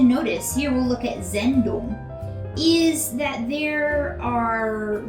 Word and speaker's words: Sendung: So Sendung, Sendung, I already know that's how it is spelled. We have this little apostrophe up here to indicate emphasis. So since the emphasis is at the beginning of the word, it's at the beginning.